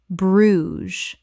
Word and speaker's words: Bruges: Correct pronunciation. Bruges. One syllable in natural English. The "ges" makes a "z" sound.